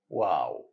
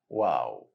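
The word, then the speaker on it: واو: Second letter, and number 26 in Arabic alphabet is letter Wow. Wow. It should be light sound, not a heavy one. Wow, not wow.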